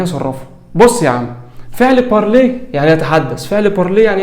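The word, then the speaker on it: parler: اول حاجه ان الاي ار لو انت فاكر من اول محاضره كانت بتتنطق ايه، فما تقولش بارلير بارلير، لا، بارلي بارلي بارلي، يتحدث.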